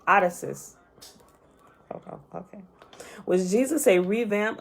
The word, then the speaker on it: Odysseus: revamp of caesar or odessa's hold on that is not how you say that name uh this is how you say that name i know how to say it odysseus okay was jesus a